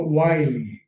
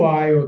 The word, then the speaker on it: while: A maioria das pessoas fala while, mas a pronúncia correta é while.